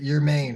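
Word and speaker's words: Germán: a half ago but your main right spell German but pronounced your main that's hype um yeah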